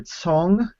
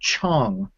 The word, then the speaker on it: Cong: you'll hear you'll hear Tong like with a TS and you'll also hear Chong with like a CH kind of sound um and and so